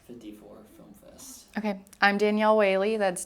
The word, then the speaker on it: Danielle Whaley: uh last first name last name how to spell it and then what you're involved in like this 54 Film Fest okay I'm Danielle wayy that's d a n i i e l